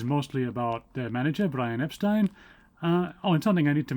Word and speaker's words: Epstein: Brian and his family were always very insistent that it was Epstein and not Epstein. I don't know where they've got this idea of it being Epstein from. Probably because that's how Americans would pronounce it.